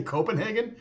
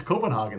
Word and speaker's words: Copenhagen: I said you say Copenhagen I always thought it was Copenhagen like Haagen-Dazs and he goes no and then by the end of the day he was saying Copenhagen he's like dang it